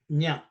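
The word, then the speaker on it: jña: The difference is the sound nya.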